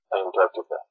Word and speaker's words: Antarctica: Antarctica. Antarctica. Antarctica. Antarctica. What does mean? Châu Nam Cực. And with the stress on the second.